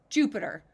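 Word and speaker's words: Jupyter: They use tools as well, like JU, Jupiter. The spelling it's not spelled like you would spell the planet Jupiter. It's spelled different in JYUPTER, but it sounds just like Jupiter.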